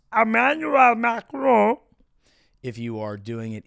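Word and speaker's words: Emmanuel Macron: This week we did have a little video of Emmanuel Mcronone as we say in the United States or as uh it is pronounced Emanuel Macron if you are doing it in the French parlance.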